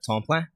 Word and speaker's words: Tamplain: Yeah, it's a French name, sort of local, bunch of different spellings and variations of it, but the French is really what sort of embellishes how it's spelt versus how it's pronounced.